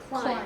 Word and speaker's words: climb: climb what Climb Time climb oh climb yeah yeah you don't pronounce the be the point is is